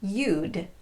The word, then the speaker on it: you'd: sense for your listener it's far safer to just pronounce the contration as it's written UD then you don't have to do that quick mental assessment to figure out which word to use this contraction is always pronounced yud all right let's practice